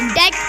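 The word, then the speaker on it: debt: हम इसे डेब्ट नहीं पढ़ेंगे, डेट पढ़ेंगे। ऐसे हम इसे डाउट पढ़ेंगे, सटल पढ़ेंगे। Words with silent letter C.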